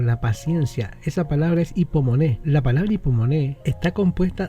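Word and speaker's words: ὑπομονή: Una de ellas, hipomoné, en el griego moderno se pronuncia la U como I, hipomoné y macrotimía.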